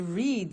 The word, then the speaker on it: read: Now, read and read are written exactly the same, but the pronunciation changes in the past tense. Read, read.